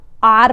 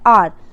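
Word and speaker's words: hour: देखो आर, एच ओ यू आर, इसे हार नहीं पढ़ेंगे या हावर नहीं पढ़ेंगे, इसे हम आर पढ़ते हैं, इसकी प्रोनाउंसिएशन होती है आर।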